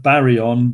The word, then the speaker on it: baryon: easy way of remembering this is that barry on ba re on is three symbols three symbols three syllables three syllables barry on and that will tell